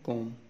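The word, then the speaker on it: comb: उसके बाद है सी ओ एम बी, B silent है, कॉम, कंगी, के और एम, हैवी डैश ओ को शो करेंगे, कॉम, लॉन्ग ओ को।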